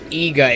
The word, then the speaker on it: Iga: gus' in there EAGA Igarashi is his last name so eegah is the proper pronunciation why do I keep